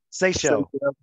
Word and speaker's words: Seychelles: I bought my tickets already for my wife and I to go to how do you pronounce it? Seychelles.